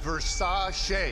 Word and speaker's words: Versace: Pronounced Versace. Singer? That's Liberace.